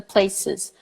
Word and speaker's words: places: or fun the places the places not the place the place you know it's coming for Brazilians you say thinking that that's the plural no you have to say the places that we go or fun so include the syllable after you know those words include the I and the Z sound yeah and so I